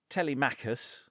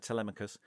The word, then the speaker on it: Telemachus: because a little lad Telemachus, as the play insists you pronounce his name, Telemachus, turns up with a letter saying that he has an ailment.